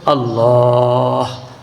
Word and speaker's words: আল্লাহ: যেমন আল্লাহ আল্লাহ শেষে হা আছে।